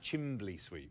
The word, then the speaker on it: chimney sweep: me just a humble chimney sweep. I think you'll find it's pronounced Chimbley Sweep. Chimbley Sweep? Chimbley Sweep. In Mary Poppins, they're called Chimbley Sweeps.